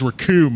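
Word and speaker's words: Recoome: He's like, the name's Raccoon, it rhymes with doom, and you're gonna be hurting too soon.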